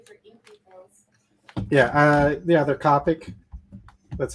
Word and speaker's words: Copic: Is Copic? It's a Japanese brand, so maybe, right? Isn't it Japanese? Yeah. It's Japanese. That might be Copic is probably. C-O-P-I-C. But everyone I've ever heard pronounces it Copic.